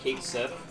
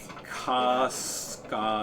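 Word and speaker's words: Cait Sith: Oh, did you know that Kate Sith is not pronounced Kate Sith? Yeah, it's like Kaska or something like that. It's Gaelic, Yeah. or Scottish or whatever. I also heard that. I don't remember how it's pronounced, but it's not Kate Sith at all.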